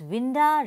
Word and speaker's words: winda: scheme of the poem he has chosen to write to vinda instead of window as winda rhymes with Belinda whereas window does not supports do take this